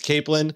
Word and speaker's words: capelin: to be talking about Northern Cod and capelin pronounced it properly right you did is it I did okay before I was saying Kaplan it's capelan um and I'm glad you told me it's